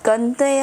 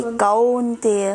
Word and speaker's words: कौन्तेय: परस, स्पर्श, स्पर्श, परस, फिर मात्रा परसास्तु कंतेय, कंतेय है कि कौन्तेय? कौन्तेय, आपके बंगाली में कैसे अक्षर, कैसे प्रोनाउंसिएशन है? कौन्तेय, कौन्तेय है ना, कौन्तेय, कौ है ना, हाँ, हाँ, तो आपको उसी तरह तो पढ़ना है, कौन्तेय।